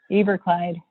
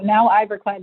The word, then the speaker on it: Iberkleid: I used to say Iberkleid, and then nobody could spell it, so I switched. Oh, so is there a proper way of pronouncing it? Well, now Iberkleid is proper.